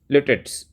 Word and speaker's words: litotes: बता देता हूँ, LITOTES, लिटेट्स। लिटेट्स हम बोल सकते हैं, वैसे इसका सही प्रोनाउंसिएशन होता है लिटोटिस। लिटोटिस, लिटो मतलब इसको लिटो भी नहीं थे, लिटेटिस, लिटेटिस। तो इसका उच्चारण थोड़ा सा अजीब है, बट ये कब होता